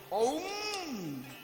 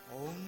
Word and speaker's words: ওম: Always বের হচ্ছে ওম ওম। অ উ আর ম।